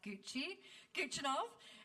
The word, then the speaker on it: Guchinov: Sophia, I know she told me this is how you pronounce her last name. It's like Guchinov.